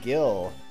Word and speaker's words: Gil: that's a sign that it's pronounced Gil as in it rhymes with will I guess Jill rhymes